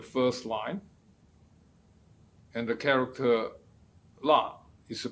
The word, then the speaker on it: 腊: Perfect match the first line, and the character la is pronounced as lap in Middle Chinese and Cantonese.